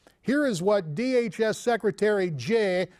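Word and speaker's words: Jeh: is what DHS secretary Jay rhymes with may Johnson said earlier this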